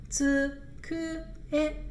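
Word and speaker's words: つくえ: 读作呲克哎，呲克哎，呲克哎，呲克哎。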